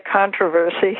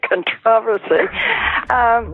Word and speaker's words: controversy: It's funny, I'm aware that we pronounce the word differently. We say controversy here, and you say controversy. Different syllable.